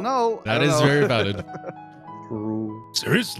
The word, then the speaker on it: Ceres: It is Ceres, right? Not Ceres.